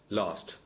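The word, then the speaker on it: lose: next നോക്കൂ ലൂസ് ലോസ്റ്റ് ലോസ്റ്റ് ഇത് ഒരല്പം ട്രിക്കി ആയിട്ടുള്ള സംഭവമാണ് നമ്മൾ ലൂസ് എന്ന വാക്കിന്റെ ഉച്ചാരണം നോക്കുക വെർബ് എൽ ഓ എസ്സി ലൂസ് പക്ഷേ അതിനെ നമ്മൾ ലൂസ് എന്ന് വായിക്കും ശരിക്കും അത് ലൂസ് എന്ന് തന്നെ ഉച്ചരിക്കണം ഇവിടെ നമ്മളെ വഴി തെറ്റിക്കുന്നത്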